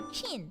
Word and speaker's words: Qin: It's pronounced like Qin.